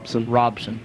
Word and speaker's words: Robson: Or Robeson, how do you pronounce that? Robson.